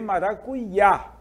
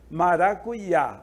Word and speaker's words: maracuyá: Professor maracujá exatamente né em alguns lugares em alguns países em algumas regiões podemos dizer também maracuyá maracuyá ok maracujá ou Maracá como dizem Os argentinos uruguaios e até paraguaios